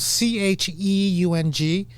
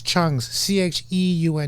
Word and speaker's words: Cheung: And I always tell people, just pronounce it without the E.